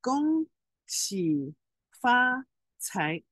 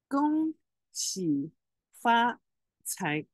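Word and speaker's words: 恭喜发财: Now, Gong Hei Fat Choi is Cantonese. Now we let's say the Mandarin pronunciation is Gong Qi Fa Cai. Gong Qi Fa Cai.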